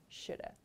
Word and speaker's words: should have: gone to the store so as i explained this pronunciation is the most common one shoulda i should have studied